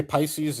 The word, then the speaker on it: Piscis: People say Pisces. Yeah, you can pronounce it that way, but Piscis and Pisces is the zodiac sign.